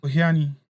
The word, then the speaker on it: Ohiani: How do you pronounce the name? Ohiani.